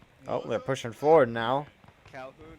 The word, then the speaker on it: Calhoun: Calhoun rhymes with coon.